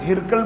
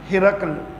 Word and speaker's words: ہرقل: Governor نے اپنے بیٹے ہرقل کو بھیجا۔ ہرقل تلفظ ہے، اکثر لوگ ہرقل بولتے ہیں، وہ درست نہیں ہے، ہرقل۔ بہرحال یہ جو ہرقل